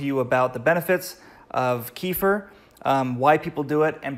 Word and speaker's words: kefir: you do this and a lot of people pronounce it differently so you might hear about kaffir or kefir but I call it kefir it doesn't really matter